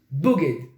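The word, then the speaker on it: בוגד: Ça s'écrit de la même façon, Bet, Gimel, Dalet, sauf qu'au lieu que le point soit sur le Bet pour prononcer le B, il est en haut pour le prononcer O.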